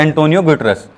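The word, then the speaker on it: António Guterres: अब इसको कैसे प्रोनाउंस करते हैं आप देखिए, ठीक है, एंटोनियो गुटेरेस।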